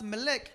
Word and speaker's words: Melech: Mira, Malco, Look, Malchus, la palabra Malco the word Malchus, en el hebreo significa Melec in Hebrews it's pronounced Melech, y Melec significa rey, and Melech means king, consejero, advisor, consejero del rey.